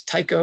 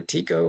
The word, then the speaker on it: Tycho: Now that's my Ciceronian pronunciation, whether it's Tycho or Tico, whatever.